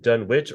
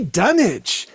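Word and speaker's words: Dunwich: Since you live in Britain, do you pronounce it Dunwitch or Dunich? They would say Dunich. Isn't that crazy? Obviously, it's not, but you know, they would say, but they don't say Sandwich.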